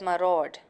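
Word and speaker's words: myriad: overhaul what's this word my rod it's it's pronounced as my rod and then I have two rays and just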